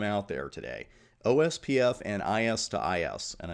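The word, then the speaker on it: IS-IS: there today OSPF and is - is and I know there's no - in the middle of that but you do pronounce that is - is now it's primarily used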